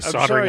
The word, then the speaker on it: soldering: See, soldering irons are the prohibited items. Do you guys have a silent L in the word soldering?